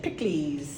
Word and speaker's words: Pikliz: c k l e s that's how you pronounce it pickley but um I just thought people were getting